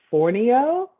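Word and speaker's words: fonio: it wrong so i apologize it's called um for neo and it was its original west african grain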